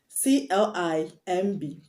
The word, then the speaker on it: climb: word climb dom bom c-l-i-m-b climb the b is silent that's why i pronounced it climb and north climb the